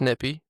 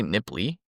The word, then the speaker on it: nippy: So it's just nippy. There's no L. Yeah, it's you don't say nipply.